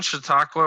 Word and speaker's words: Chautauqua: you guys and then credit union am i pronouncing Chautauqua right yeah yeah I am okay perfect alright